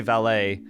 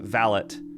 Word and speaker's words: valet: So, I don't know, in America we say valet, but I think in the UK they pronounce it valet.